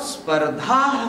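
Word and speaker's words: स्पर्धाः: That rev comes before dha. Only this much you should remember.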